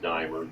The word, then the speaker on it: Diemer: It's pronounced Diemer, DEIMERKURT.